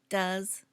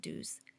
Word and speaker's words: does: Notice the pronunciation does, not do's.